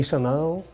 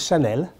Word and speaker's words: Chanel: don't need my help i know you say chanel but it's chanel from the name of coco